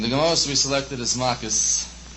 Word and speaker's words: Makkot: The Gemara we selected is Makis, pronounced Malkus, and it comes after Sanhedrin, and it deals with many, many different topics, a lot of different topics.